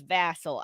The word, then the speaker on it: Vassel: And thing is, I don't even know how I knew that it was Vassal.